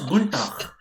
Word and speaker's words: Guten Tag: If you see, it is Guten Tag, but if it is being pronounced, it is Guntag.